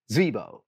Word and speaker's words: Zvibo: I'm going to keep trying it in one syllable. It's two syllables. Zvibo says, how did you go about planning a MythBusters season?